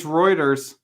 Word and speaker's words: Reuters: people are saying it's reuters it's reuters fourth quarter oh man dog bowser knows his things because he knows how to speed as chris cogden is saying it rhymes with goiters okay it hangs we